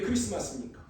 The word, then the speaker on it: 크리스마스: 불고 막 식사하고 이게 크리스마스니까 크리스마스는 그리스도의 날입니다 아멘 그러니까 어렵게 생각할 거 없고 크리스트마스 있데이 뒤에 자가 묵음으로 소리 안 나는 거예요 크리스마스는 그리스도의 날입니다